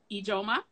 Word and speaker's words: Ijeoma: But Teri, and I want to say it right, Ijeoma?